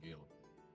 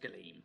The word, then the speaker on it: Galeem: What are you doing in Galen? First of all, it's pronounced Galeem. No, shit, it's not. God damn it. It's Galeem.